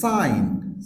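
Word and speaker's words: sign: ডিজাইন ডিজাইন same ভাবে সাইন সাইন এখানেও জি এর পরে এন থাকার কারণে জি এর উচ্চারণ হচ্ছে না সাইন the last one that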